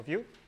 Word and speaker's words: Vue: Bueno, pues bienvenidos a la charla de introducción a Vue, o Vue, que es como se pronuncia en inglés.